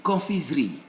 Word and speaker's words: confiserie: Confiserie, confiserie. We'll come to this one S between two vowels will always produce Z sound in French, not S.